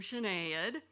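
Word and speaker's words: Sinéad: read Irish singer CAD I later learned you pronounce her name chenade o' Conor tops the charts with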